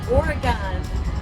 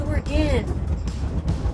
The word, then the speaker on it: Oregon: We even get Oregon pronounced wrong. Sometimes, being from Michigan, we'll say Oregon, and people at the mothership will correct us and say, it's not Oregon, it's Oregon.